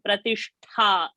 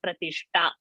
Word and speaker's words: प्रतिष्ठा: So Anakara and Dakara should come, and Pratishtha, Tha Mahaprana and not Pratishta. So it is Prakata and Pratishtha. So both you see the words over there, Ta and Tha, they need to be pronounced like that only, not to interchange.